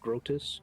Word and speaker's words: Groetus: Like grotesque, but grotus.